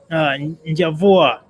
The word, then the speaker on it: Njavwa: Njavwa, tell us more about yourself. Sure. So my name is pronounced Njavwa.